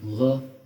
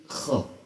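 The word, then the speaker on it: خ: Jadi harus kedengaran kha. Jadi jangan tanggung, jangan gha, jangan kha, tapi kha. Kita ulangi sekali lagi. Ja ha kha. Ja ha kha.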